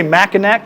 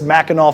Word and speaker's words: Mackinac: mackinac um so and i keep wanting to say mackinac because that's kind of how it's spelled i'm pretty sure that's mackinaw fudge um kbs is one